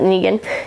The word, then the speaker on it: Negan: group um nean Negan I think you pronounce it Negan is what they said but anyways they're just